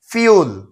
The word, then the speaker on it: fuel: আমরা অনেকেই বলি ফুয়েল। এটা কিন্তু ভুল উচ্চারণ। এর শুদ্ধ উচ্চারণ হবে ফিউল।